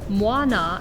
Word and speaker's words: Muana: the southern united states words end in vowel sounds like moana and we're just saying it without thinking about pronouncing it correctly we tend to just want to cheat that last vowel sound of any time or effort so instead of moina as it's supposed to be said we're going to